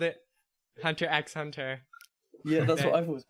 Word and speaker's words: Hunter x Hunter: I always called it Hunter x Hunter. Yeah, that's what I've always called it. Yeah. I thought it was at first, and then I found out that the X is silent.